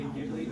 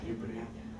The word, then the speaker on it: Ghibli: But if you say Ghibli, they won't understand what you're saying. You have to pronounce it Ghibli.